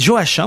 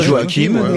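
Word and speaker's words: Joachim: Moyen-Âge il c'est marrant vous dites Joachin moi je dis joakimou joim Joakim il me semble que c'est la prononciation espagnole mais enfin pourquoi pas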